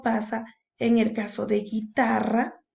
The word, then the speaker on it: guitarra: Lo mismo pasa en el caso de guitarra. Fíjate, la U no suena.